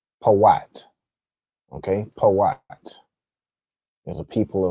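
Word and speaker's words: פוט: So, put in the Hebrew would be Poat.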